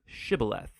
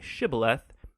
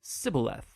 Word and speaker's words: shibboleth: and asked everybody who wanted to cross to pronounce the hebrew word shibboleth it turned out that the ephraimites had grown up pronouncing that word differently so instead of saying shibboleth they would say sybileth when that happened the gili knight guard would